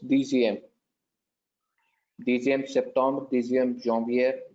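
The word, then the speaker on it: dixième: It's Dixiem. It's Dixiem and not IEUM. You're literally going with the pronunciation. Okay. Can you correct that? I'll correct it for you. It's DCM.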